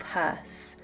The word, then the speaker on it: Höss: One of the most awful and dispicable war criminals of the Second World War was Rudolf Hoss (Pronounced Herse as in curse with a H on it.)